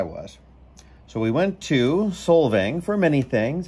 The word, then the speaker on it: Solvang: a place called solvang i know you're gonna hear me say slovang several times but guess what i said it wrong that's that's just